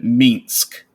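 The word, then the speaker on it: Minsc: Yeah, but, I do have to say though, having Minsk, it's pronounced Minsk by the way.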